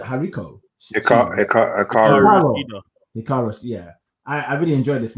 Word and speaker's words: Hikaru: One of my highlights of the night was this next match, Britt Baker versus Hariko. How do you say Hariko? Hikaru.